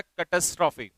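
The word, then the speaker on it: catastrophe: इसका प्रोनाउंसिएशन होता है कैटास्ट्रॉफी।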